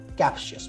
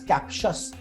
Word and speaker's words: captious: People who are habitual of finding mistakes are called captious. Mark the word captious. It's an adjective. Captious नहीं पढ़ेंगे. The word is pronounced as captious.